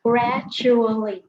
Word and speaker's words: gradually: Thì cái D với lại cái J này nè ha, nó kết hợp lại thành âm chờ, cho nên là mình sẽ đọc là gradually nha.